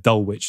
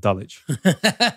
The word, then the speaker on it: Dulwich: London my entire life, I said Dulwich instead of Dulwich. You have to hand in your UK card if you do that, I think. You know, like intuitive pronunciations, mate.